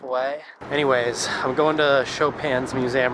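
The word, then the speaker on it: Chopin: Anyways, I'm going to Shopan's museum right now.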